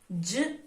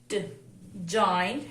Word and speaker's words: giant: Here the letter A is silent because of the long vowel rule says when there are two vowels in a letter, the first vowel take the sound of the long vowel and the second vowel remain the silent. That's why we call this word giant, giant.